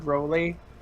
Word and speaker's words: Rowley: Because Rowlet, or it's Rowlet, but I call him Rowlet because that's how my last name is pronounced, Rowley. Right. A lot of people mispronounce it as Rowley, but no.